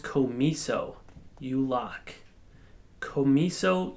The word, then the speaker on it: COMISO: this product comes with I think it's pronounced Co me so you lock Co me